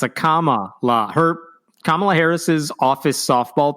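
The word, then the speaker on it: Kamala: guest is telling him it's like comma literally the grammar Mark it's a comma La her kamla Harris's office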